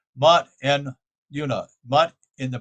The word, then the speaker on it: Mut: the spiritual conception is ma mut sorry I'm start it wrong said it wrong mut and yaa mut in